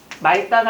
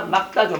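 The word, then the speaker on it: 맑다: 말다가 아니라 막다죠. 막다.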